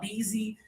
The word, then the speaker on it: busy: The common mistake is to say easy with the high tongue. We're trying to avoid that. Lower tongue, more air.